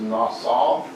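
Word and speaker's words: נשא: The pronunciation is Nassau.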